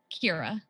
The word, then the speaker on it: Kyra: what's what's your name Kyra Kyra it's spelled real weird cuz it's a well it's pronounced like Keira Knightley okay yeah i apologies